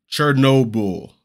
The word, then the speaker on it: Chernobyl: Chernobyl is how it's pronounced.